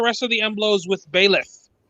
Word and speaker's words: Byleth: Let's clear out the rest of the Emblos with Bailiff. Is that how you pronounce it? I always pronounce it Byleth. Okay. Yes, that's correct.